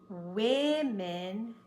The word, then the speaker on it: women: make it different we started changing the sound of this o to match this so it's woman one women two spelling didn't change pronunciation changed also some words like Mouse